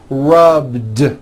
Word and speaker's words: rubbed: at the end rub it's not rub with an unvoiced T it's rubed like that here's another example clean